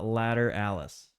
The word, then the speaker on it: Lateralus: This album is pronounced uh Latter Alice.